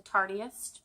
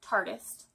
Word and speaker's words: Tartist: I called it the Tartiest, but I think I was reading something, obviously stalking their Instagram page. Yes, and it is pronounced Tartist, like artist.